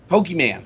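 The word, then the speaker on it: Pokémon: Pokemon. Sorry. God, I keep mispronouncing. It's Pokemon. So, guys, people pronouncing it Pokemon.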